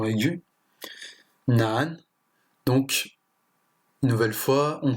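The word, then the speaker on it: 难: Ce caractère se prononce ch, ce qui est le verbe manger. Et enfin, nan, ce qui signifie difficile.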